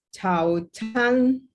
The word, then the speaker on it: 早餐: 对，早餐早nya karena Z, jadi dia bacanya tidak ada angin. Saya selalu sebut tidak ada angin, artinya Z itu sama dengan bunyi C di bahasa Indonesia ya. Jadi 早餐. Nah, kalau C itu perlu ada angin, artinya bacanya ada H ya.